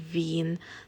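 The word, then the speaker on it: Wien: lang din natutunan ng pronunciation nito ay ven w i e n yung local name ng lugar una naming stop dito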